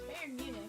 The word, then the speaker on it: Bayern Munich: I kept thinking I was saying it wrong because of the way it's spelled and I'm like, "No, it's Bayern Munich."